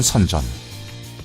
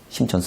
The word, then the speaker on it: 선전: 빠르게 혁신의 기지로 탈바꿈하는 선전 이제 진짜 중국의 실리콘밸리는 여기다 심천 선전 있니다 중국발음으로 그렇게 얘기를 해요 작년도에 부동산 가격이 가장 많이 오르는데 60 몇 % 오른데 어디냐 심천 전입니다 왜 이렇게 많이